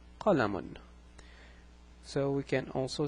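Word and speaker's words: قَلَمٌ: This word is pronounced qalamun. So it's qa la, and it's pronounced as if there is a noon at the end. So it's pronounced as if it's qa la and mun. So notice what happens.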